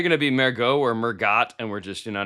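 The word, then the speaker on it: Mergott: I was going to try to battle you cuz I think his name's going to be pronounced almost like French, like Mergot, but it's m e r g o t t, but it's a linebacker.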